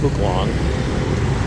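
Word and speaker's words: Phúc Long: it a whirl but it's pronounced book long not maybe some of you think it is um and so coming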